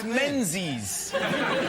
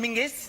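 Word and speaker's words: Menzies: But it's pronounced it's it's spelled M E N Z I S. Yes. Well, why are you looking at me like I'm insane? He's got mensies. Mens. John Menses. But apparently, let's go to John Mingus. They don't do it. But what's he Martina Hingis? Martina. Why are they still looking at me like I'm not making sense? It's a It's a G, not a Zed.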